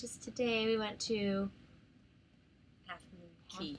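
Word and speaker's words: Half Moon Cay: then Friday which is today we went to Half Moon Key Half Moon Key I said so if you've never been on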